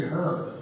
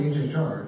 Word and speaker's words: HHR: And I went, oh, it's actually called the HHR. It's not the Chevy Her.